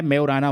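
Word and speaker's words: Majorana: का नाम क्या है इसका नाम है मे उराना वन जे साइलेंट है मे उराना वन ध्यान रखना माराना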